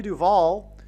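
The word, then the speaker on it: Duvall: And so, uh, Shelley Duval, um, uh, her name rhymes with Hall.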